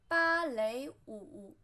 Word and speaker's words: 芭蕾舞: Then we have ballet, 芭蕾舞, 芭蕾舞, 芭蕾舞. 舞, which means dance in non-form, 芭蕾, which is translated by the sound of English, 芭蕾舞, 芭, flat tone, 蕾, second tone, 舞, third tone, 芭蕾舞.